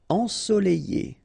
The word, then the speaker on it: ensoleillé: Ensoleillé, remember double L after E, ensoleillé.